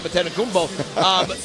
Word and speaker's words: Antetokounmpo: Well, one thing that we do know is the entire world pretty much this week has learned how to pronounce his last name, Antetokounmpo.